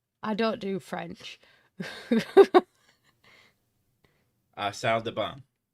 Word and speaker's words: salle de bain: Salle de bain is how that's It's pronounced. not ban. It's salle de bain. Salle de what? Bain. Ba. But we're Not bain. ba. Bain. There's an N in there.